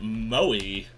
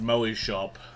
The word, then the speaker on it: Moe Shop: Something a bit moy. Uh, and that is pronounced Moy Shop. If you're not familiar with Japanese culture, it is not Mo as in The Simpsons.